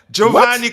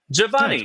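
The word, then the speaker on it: Geovany: Johanni K. Am I pronouncing it wrong? Yeah. Javani.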